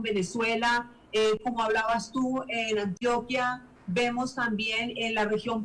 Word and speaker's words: Antioquia: Claudia, tú mencionas 2 departamentos, mencionas el Cauca y mencionas a Nariño, que conjuntamente con Antioquia, ¿lo pronuncio correctamente? Antioquia o Antioquía. Antioquia.